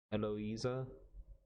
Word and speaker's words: Eloisa: narration allies is that it's not eliza it's eloisa um naito i'm going